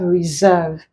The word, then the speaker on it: reserve: handsome here we have Reserve here we have asserts so our answer becomes reserve the s that contains z sound not so our answer